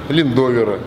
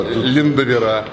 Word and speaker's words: Линдовера: Линдовера. Да, Линдовера. А вот в русском языке же нету, да, правил, как ударение ставится?